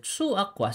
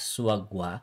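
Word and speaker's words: 소아과: And last time binanggit ko rin na yung kwa is not pronounced as gwa. Here, when we are talking about hospital, mga pyeongwon. Okay, so suakwa. So this is supposed to be read as suagwa kung susundin natin yung pronunciation rules na diniscuss natin. But suakwa is not suagwa.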